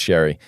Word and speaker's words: Xerri: Spelt scary, pronounced Shery.